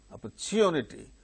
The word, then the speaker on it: opportunity: gains stress automatically and in the case of opportunity individually the word wherever it occurs the third syllable gains stress therefore here also